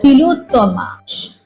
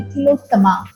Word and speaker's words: Tilottama: She is called Tilottama, or that's my Bengali pronunciation. In Sanskrit, it would be Tilottama.